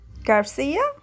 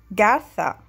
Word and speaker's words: Garza: your last name again garcia actually it's gartha how do you spell